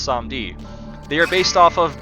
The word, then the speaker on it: Samedi: yeah I did look it up it is pronounced some deed they are based off of Baron Samedi one